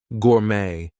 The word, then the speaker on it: gourmet: So things like ballet, gourmet, we are not going to pronounce the T there.